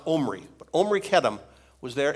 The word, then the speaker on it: Omri: His name is, it looks like Omri, like in the Bible, Omri and Ahab. Well, this is pronounced Omri.